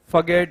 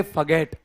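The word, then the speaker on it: forget: क्या होता है भूलना आप गलत करते हो उ चारण फॉरगेट नहीं कहते इसको इसको कहते फगेट बोलो फगेट र मत बोलो उसमें फगेट फगेट यह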